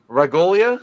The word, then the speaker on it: Ragolia: It is week 2 of October Noir, and we are joined by special guest Ragolia.